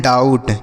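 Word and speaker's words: doubt: इसे हम पढ़ते हैं डाउट। क्या पढ़ते हैं? डाउट। डाऊ बे यहां बी जो है लिखा है बच्चों यह साइलेंट है। इसको नहीं पढ़ा जाता है।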